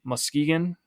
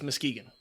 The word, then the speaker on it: Muskegon: You're saying Muskegon. It's not Muskegon. It's Muskegon. I mean, it's spelled Musk-Egan. Yeah, but you're putting so much emphasis on that K and the U.